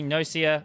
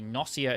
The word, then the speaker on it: Gnosia: i will start again genocia or potentially nocia i think the the word is allegedly based on the word gnostic or gnosticism so probably nausea is technically the correct pronunciation although i've always called it genocia is a social deduction